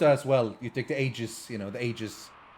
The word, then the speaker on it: Aegis: In Dota as well, you take the Aegis, you know, the Aegis. There are multiple pronunciations. Aegis is probably right, but Aegis just sounds better.